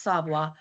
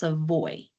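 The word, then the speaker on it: Savoy: Both are pronounced savoa, but in certain parts of Louisiana, I know in Ibraville Parish, s a v o y is pronounced seavoi. I say savoa.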